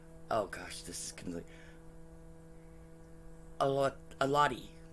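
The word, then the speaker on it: Xolotl: Now they worshipped a god called Oh gosh, this is completely Alati, okay? But it starts with an X. X is silent.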